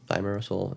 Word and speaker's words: thimerosal: pushing is they said this preservative called thimerosal thimerosal is how you say they were saying that